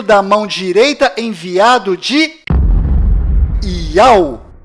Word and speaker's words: Yauh: enviado do Criador, pois o nome do Criador é Iau, e a última letra do seu nome tem som de H mudo, do qual não altera a pronúncia deste nome.